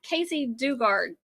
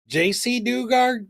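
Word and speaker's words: Jaycee Dugard: you've got that wrong so that's like casy Casey Dugard dard did I say it wrong JC Dugard JC so Casey Dugard JC Dugard Casey dard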